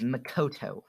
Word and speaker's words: Makoto: uh demon slayer uh her name is makoto makoto like the like the the persona 5 character makoto so makoto is